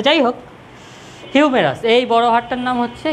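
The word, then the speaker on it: humerus: উচ্চারণটা হিউমেরাস, ঠিক আছে?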